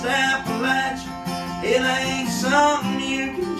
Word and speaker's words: Appalachia: It's pronounced Appalachia with a Perry County drawl.